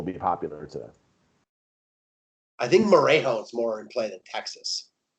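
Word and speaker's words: Morejón: God, how do you not just pronounce his name Moron? Morejon.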